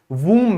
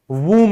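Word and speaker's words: womb: अपनी माँ के वूम में। कहां रहते हैं? वूम में। तो ये वूम ब नहीं होता।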